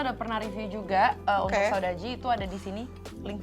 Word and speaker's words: Saudade: ada dari Saudaji ya pronunciation-nya.